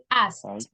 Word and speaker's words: asked: Okay, let's reinforce the T sound. In your case, I feel that the T is the one that you're not saying. Repeat, asked.